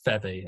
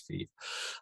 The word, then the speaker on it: Feeve: I think I said Feve, and he said it is Feeve.